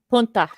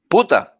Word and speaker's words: puta: Punta. Punta. Puta. Puta. Puta. Yeah. Whore. Oh. Pero ya say with attitude. Puta. Puta! Puta. There you go.